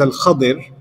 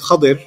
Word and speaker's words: Khadir: There are a hadith that point out that his name is Al-Khadir. There are different pronunciations. I'll stick with Khadir, right?